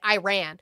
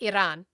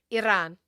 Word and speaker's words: Iran: I apologize that you can't roll your Rs.